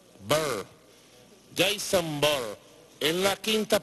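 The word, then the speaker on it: Bourne: My Santa fuimos a verlo la semana pasada y este sábado fuimos a ver una película llamada Jason Bur. Se pronuncia así, Bur.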